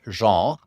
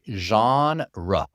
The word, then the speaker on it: genre: So it's like a French word, genre, but in English we say genre.